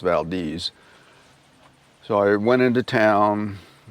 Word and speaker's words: Valdez: It looks like Valdez, but it's pronounced Valdez.